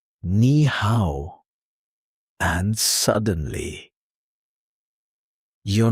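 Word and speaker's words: 你好: Pronounced nihow. Let's slow it down. Nih how one more time.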